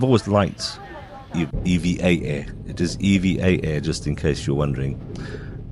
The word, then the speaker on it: EVA: It is EVA, just in case you're wondering. I've always mispronounced it.